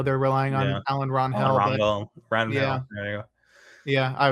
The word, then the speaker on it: Rangel: Rangel. There you go. Yeah, I was struggling with how to pronounce that name the other day.